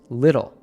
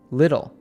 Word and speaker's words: little: But because it follows the L sound before the vowel, it turns into a flap T, a soft d sound. Just like the word little, which we pronounce little, little.